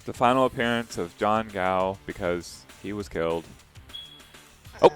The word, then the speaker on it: Gao: It's if you want to do like American-ish pronunciation, you can go ahead and say cow. But the correct way to say it is gao with a G-A-O. Mm-hmm. So that's how you supposed to pronounce it correctly for my last name.